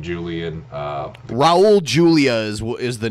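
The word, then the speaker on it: Raúl Julia: I'm saying it right Julian yeah rested Raul Julia not Julian peace I guess that's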